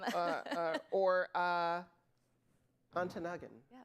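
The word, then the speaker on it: Ontonagon: Um uh uh or uh Antanagan. Yes. Thank you. Did I get that right? Excellent pronunciation.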